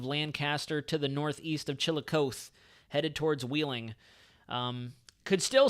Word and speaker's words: Chillicothe: Chillicothe. There we go. Thank you. All right, don't laugh. Don't laugh at the pronunciation.